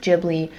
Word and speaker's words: Ghibli: And yes, I'm going to say Ghibli and not Jibli, even though I know that in Japanese it would be pronounced Jibli, but I've always said Ghibli, so I'm going to stick to my roots.